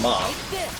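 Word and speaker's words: 马: in there is cu horse is pronounced Ma so it's female pronounced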